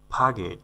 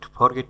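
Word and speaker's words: forget: মানে হচ্ছে নিষেধ করা ফাগেট ফরগেট না ফাগেট ফাগেট সঠিক উচ্চারণ ফাগেট মানে হচ্ছে ভুলে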